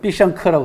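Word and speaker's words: 必胜客: 중국 발음으로는 삐샹크라고 합니다.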